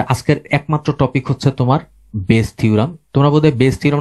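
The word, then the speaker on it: Bayes: দুই একবার থাকার কথা তো বোধহয় ছিল, নাকি বায়াস থিওরাম বলতা? বায়াস থিওরামই বলতাম মনে হয়। তোমরা বায়াস থিওরাম বলতা, উচ্চারণটা বোধহয় বেস হবে, বেস থিওরি হবে।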